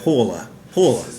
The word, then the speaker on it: Pohjala: visited the brewery and found out that it's like almost a single syllable word as near as we could tell is like paa paa and so so and